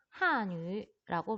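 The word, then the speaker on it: 汉语: 그래서 한족이 쓰는 언어라고 해서 중국어를 한유라고 발음한다고 했습니다.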